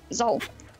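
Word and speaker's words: Xul: Yeah, Zol.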